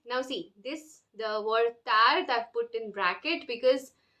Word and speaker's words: tard: The D is silent, okay? Most of the words, all the words which end with a consonant, the consonants are not pronounced, okay?